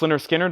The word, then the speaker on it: Lynyrd Skynyrd: them have seen splits Lynyrd Skynyrd pronounced Lynyrd Skynyrd that's once again the